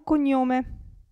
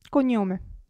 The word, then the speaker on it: cognome: Qui, GN, se vi ricordate che si pronuncia NI, allora abbiamo cognome, cognome.